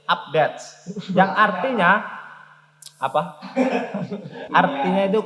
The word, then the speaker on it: update: tool update up-to-date iya harus update salah ABD bukan begitu tulisannya itu Wu PDKT yang artinya udet yang cara membacanya itu update yang artinya Apa artinya